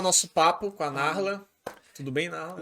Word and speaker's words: Narla: mas não é com R, é Nahla. Tipo, Nala. Nala. Aham. Só que aí pronuncia Narla, né?